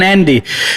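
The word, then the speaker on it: Andi: One's pronounced Audie, the other one Andy.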